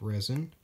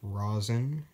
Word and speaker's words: rosin: brand new package of resin or rosin if you were going to pronounce it as a spelled I guess that's called phonetically and as you can